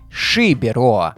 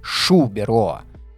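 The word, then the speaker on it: Xiberoa: И все бы хорошо, но при проверке выясняется, что баскское Шубероа в действительности пишется и произносится не иначе, как Шибероа, а не Шубероа.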